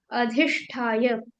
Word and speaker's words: अधिष्ठाय: चीज गलती की है अधिष्ठाय ये जो साउंड है ना अगर आप द बोलोगे तो ये अल्पप्राण हो जाएगा और महाप्राण बोलोगे तो आप इसको ध बोल पाओगे जैसे अधिष्ठाय अधिष्ठाय अधिष्ठााय